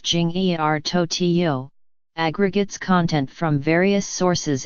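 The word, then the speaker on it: 今日头条: name means today's headlines in Chinese and is pronounced Jing er Tokyo aggregates content from various sources and looks much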